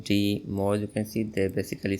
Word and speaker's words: DIMO: Uh yes, it is pronounced DO.